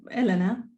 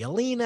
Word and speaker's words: Elena: do you pronounce it how do you pronounce your first name Elena Elena okay I wasn't sure it could be Alina I didn't want to